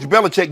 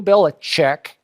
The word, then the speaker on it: Belichick: That Bill Belichick, before Tom Brady fell out of heaven into his lap, Bill Belichick, it's Chick actually. Chick. Chick, it's C-H-I-C-K.